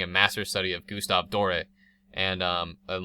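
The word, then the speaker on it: Doré: etch on big metal doors when his name is door but dor I believe is the correct pronunciation um what is it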